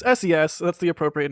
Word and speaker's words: SES: got it okay so why is the payload today SES and not cess because they're paying for it they can pronounce it however they want it SES double says like